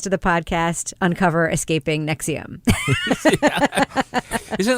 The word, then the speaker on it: NXIVM: Escaping NXIVM, which I now know how to pronounce thanks to the podcast Uncover Escaping NXIVM.